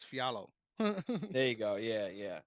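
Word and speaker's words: Fialho: his name because it's it's like Andre it's pronounced it it looks like Fiat uh Fiel ho but it's fiallo there you go yeah yeah so I always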